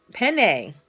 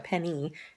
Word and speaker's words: penne: that that's the stuff penne you have to say it like that is it PE entity yeah penne that's how you say it penny yeah that's how you say it it's not a penny that's just how you